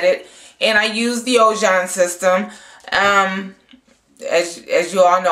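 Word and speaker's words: Ojon: and blow dried it, and I used the Ojan system. As you all know, I was pronouncing it wrong. I was calling it Ogan.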